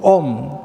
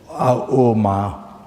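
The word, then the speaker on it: ॐ: Then Om, so 3 syllables, Auma, 3 syllables, Auma, then become one syllable, so Auma, so Om, so met Om.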